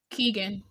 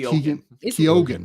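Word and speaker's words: Keoghan: I'm gonna mispronounce this Keegan Keegan K kogen it's kogen that's right it is kogen Barry kogen I saw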